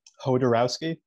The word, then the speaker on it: Jodorowsky: Honestly, how do you pronounce his last name? Jodorowsky.